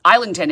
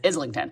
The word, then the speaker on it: Islington: the only problem is she pronounced isington as um isington and he pronounced it as Islington so what I actually